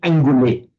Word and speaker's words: anguli: And fortunately, okay, anguli and anguli with a short E, both equally permitted in Sanskrit as in Pali.